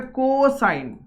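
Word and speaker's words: cosine: कॉस जो होता है ना, वो कॉस नहीं है, वो पूरा उसको अगर एक्सपांड करा जाएगा तो वो हो जाएगा कोसाइन। ठीक है, ये समझ में आ गया, साइन कोसाइन।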